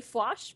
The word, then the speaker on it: Fwosh: It's actually Fwosh, but I go by Fwoshy on Twitter since the Fwosh was taken.